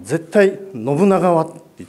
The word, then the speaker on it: 信長: みたさん今あの信長っておっしゃいましたけども信長にしてくださいとちょっとアクセントが違うらしいんですね分かりましたって言っ